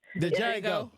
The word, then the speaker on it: Django: Jackson what Django jangle the de how you pronounce it Jango the Django thank you yeah that's who he is because